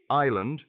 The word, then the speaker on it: island: One day while trying to say island, Amir pronounced the S clearly and his friend corrected him gently, saying, "The S is silent."